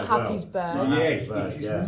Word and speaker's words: Happisburgh: Happisburgh.